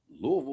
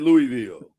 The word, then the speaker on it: Louisville: Shout out everybody that calls it Louisville. City. We'll come to your city. Messing up the name. Louisville. Okay. Well, why they say Louisville Slugger? Because they say it wrong.